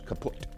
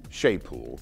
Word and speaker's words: Chaput: to Philly's Arch Bishop Charles kaput pronounced shaool but I call him